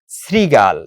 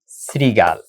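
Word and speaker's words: শৃগাল: যেমন আমি লিখলাম শ্রীগাল। তাহলে এটার উচ্চারণটা হয়ে যাবে দন্তস দিয়া। শ্রীগাল দন্তস দিয়ে হয়ে যাবে শ্রীগাল এরকম হবে বা রফলা দিয়ে রশিকারও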